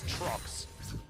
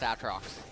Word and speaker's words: Aatrox: wanting to let his Aatrox, or sorry, his Trox fall down early on in this game. It's pronounced Aatrox.